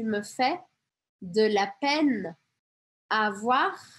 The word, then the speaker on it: avoir: Avoir. Aqui eu pronuncio esse R, tá? Importante. Avoir de la peine.